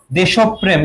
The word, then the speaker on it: দেশপ্রেম: উচ্চারণ কি হবে দেখো দেশব প্রেম কি হবে যার সঙ্গে র ফালা থাকে সেই বর্ণটা দীপ্ত হয় দীপ্ত মানে দই তাহলে